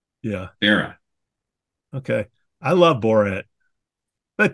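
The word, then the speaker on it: Barat: a r a t the t is silent yeah barah okay I love boret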